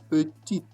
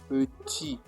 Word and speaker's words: petit: You just say petit. Ignore this T at the end. Just say petit.